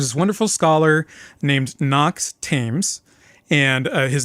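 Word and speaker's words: Thames: There's this wonderful scholar named Knox Tames and his name is spelled like the river Tames but it's pronounced Tames.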